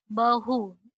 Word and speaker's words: बहु: बहु की विदा, बड़ी ऊ की मात्रा, बहु, long u sound, बहु की विदा.